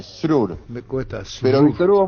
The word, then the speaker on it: Srur: contar muy corta historia mi apellido se dice srur apoyate en la s después la r surur me cuesta pero Víctor